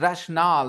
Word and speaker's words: rationale: the rationale, the pronunciation is rationale, not rational then, okay? The Okay. rational is an adjective, but the word rational is pronounced rationale, and then you use it as a noun.